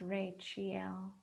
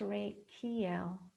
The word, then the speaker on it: Rachael: a c h a e l and it's pronounced rachel sometimes pronounced ray kl which is interesting because we do have a